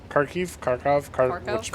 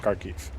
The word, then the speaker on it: Kharkiv: Kharkov. Whatever. I think it's technically pronounced Kharkiv. Oh. And I think it's how it's supposed to be pronounced.